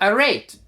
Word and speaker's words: arete: The Greek word for virtue itself is called arete. and spelled Arete. And I think different people pronounce that in different ways. But it rhymes with the word great. Arete rhymes with great.